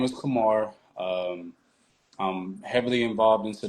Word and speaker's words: Kuhmar: Is it Kamar or Kumar? It's Kamar. Definitely. You said it right the first time.